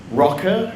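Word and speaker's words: Rokr: So this is the Motorola Rocker, I think it's pronounced.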